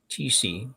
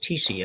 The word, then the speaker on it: Thies: TC. Oh, okay. Pronounce it even. She good thing she told us it's actually pronounced TC.